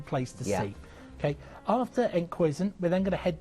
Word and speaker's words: Enkhuizen: There we go, Enkhuizen. It's like Huizen Duck.